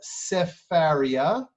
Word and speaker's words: Sefaria: As you can see, it's called Sefaria. Here we have the same text up here. That's how it's pronounced.